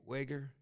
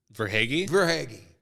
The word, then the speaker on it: Verhaeghe: Wager? Verhaeghe.